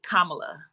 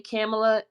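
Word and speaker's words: Kamala: an extra effort to say her name properly kamla but the thing is I actually canel my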